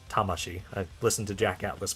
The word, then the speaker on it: Tamashii: to correct me about how I pronounce Tamasi. I know it's Tamashi.